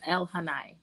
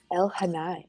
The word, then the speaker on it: Elhaanai: it down but i i don't want to mispronounce it what is the book trilogy called tales of el hanai el hanai okay yeah i was gonna butcher that right